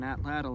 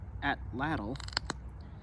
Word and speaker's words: atlatl: to throw on an atlatl and hunt with. I was recently told that the correct way to pronounce atlatl is atlat.